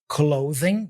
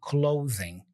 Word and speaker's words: clothing: load anything from clothing clothing did you pay attention to the pronunciation here clothing has a voiced th sound here z z so clothing clothing we can load anything